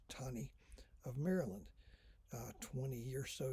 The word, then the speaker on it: Taney: was roger b taney looks like taney pronounced tawny of maryland 20 years